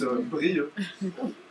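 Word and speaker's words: Brieuc: Bri euh brio c'est pas mais avec un c à la fin en fait on écrit brioc mais on prononce brilleux et du coup ça donnerait brilleux bourd.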